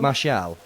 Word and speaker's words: Martial: Martial.